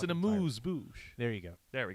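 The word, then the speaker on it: amuse-bouche: And a booze moosh, if you would.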